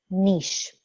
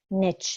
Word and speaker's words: niche: a transformational leader in your niche or niche, depending on your pronunciation.